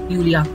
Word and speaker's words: Julia: would you pronounce it julia yeah because j is pronounced as y when it's with a word and simply it's called